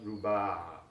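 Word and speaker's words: ربع: Quarter is pronounced ruba, ruba.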